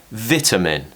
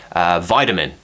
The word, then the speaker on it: vitamin: where the a is we're going to replace it with the schwa sound vitamin the reason we do